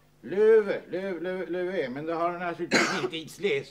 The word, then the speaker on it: lever: Det står ju som fotnot här hur det ska uttalas. Löve.